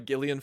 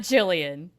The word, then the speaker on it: Gillian: And it's and yes, that is how her name is pronounced. I feel like an idiot every single time I say it. It's not Jillian.